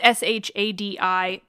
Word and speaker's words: Shadi Bartsch: There's a new one of the Aeneid by, I'm not sure I'm going to pronounce his name right, so I apologize in advance, but Shadi Barch. It's Shadi Bartsch.